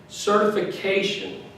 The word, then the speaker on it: certification: what we talked about the tion words the words that end in tion the emphasis is on the syllable before the show like AG action certification